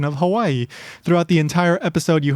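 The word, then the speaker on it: Hawaiʻi: Basically, like you hear in uh-oh, that little stop in the middle, so you would say Hawaii, and the W is pronounced like a V.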